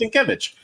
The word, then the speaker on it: Sienkiewicz: It's pronounced Sienkiewicz.